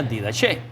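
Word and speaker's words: διδαχή: palabra didache, que es la misma y se pronuncia didache.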